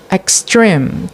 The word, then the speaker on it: extreme: And there were an exception in this rule, like in the word hotel for noun, which is the stress is not at the first syllable but at the second syllable. And in the word extreme for adjective, which is